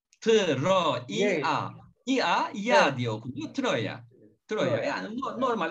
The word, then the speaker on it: Troia: diye okunuyor mu o tır oıa ya diyoki Troya duruyor yani normal okunuşu bu Dolayısıyla Biz de öyle alıştır aldık